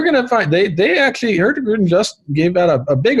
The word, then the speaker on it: Hurtigruten: And we're going to find they actually Hurtigruten just gave out a big offer for National